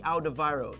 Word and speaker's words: Alderweireld: Toby Alderweireld. There we go. Even though it's got a W in it, we act like there's a V.